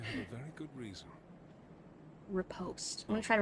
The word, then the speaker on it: riposte: our patches for the game hello so it's rip host we've got a we've got a pronunciation well i hope you have a very good reason riposte i'm going to try to remember that who